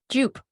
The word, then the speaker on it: Jupe: It's Jupe.